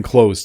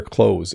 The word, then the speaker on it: clothes: it's important to wear clothes it's proper and in a civilized world people wear clothes in North America and in Canada we say this the same as to close a door okay I am wearing